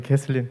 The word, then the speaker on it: Kathleen: pronounce the your name cathine is right kathen is fine yeah okay cathine thank